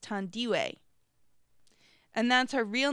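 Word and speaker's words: Thandiwe: I and the E of Dandy and it's pronounced tandiwe and that's her real name she says that's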